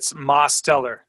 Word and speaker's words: Mosteller: It's Mosteller. So the T is in the first syllable.